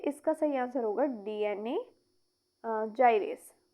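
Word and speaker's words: gyrase: देखिए इसका सही आंसर होगा डीएनए जाइरेस। इसे प्रोनाउंस करेंगे ऐसे। ये क्या है? देखिए डीएनए जाइरेस।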